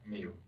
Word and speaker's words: Miu: IU how do you spell how do you pronounce that me okay and what's your birthday do do you